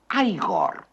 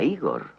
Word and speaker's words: Igor: No, se pronuncia Aigor. A mí me dijeron que era Igor.